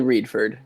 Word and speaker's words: Redford: is with this so Josh do I pronounce it Reed furred Redford how do you want to say your last name here I'll respond to anything but generally Reed furred Reed furred okay sounds good I'm